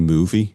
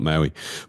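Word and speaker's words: Mowi: company is known as actually it's it's actually movie how you actually pronounce it but we all is it yeah movie is how it's supposed to be pronounced but we all call it Maui but uh so it's really interesting interview with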